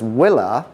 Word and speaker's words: Uila: L A pronounce as Willer it is a Hawaiian word Willa in Hawaiian meaning is